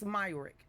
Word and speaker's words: Myrick: wrong one more time, where you getting the A from? It's Myrick.